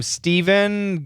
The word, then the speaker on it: Stephen: So even though the PH is an F sound for the name Stephen, guys who spell it with a PH, it's a V sound, so it does change.